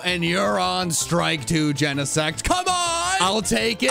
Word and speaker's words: Genesect: and you're out and you're on strike two genesect come on i'll take it i could remember